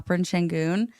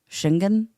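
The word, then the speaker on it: Şengün: were talking about Al shenon and they were like did you know that his last name is pronounced like shingen and like and they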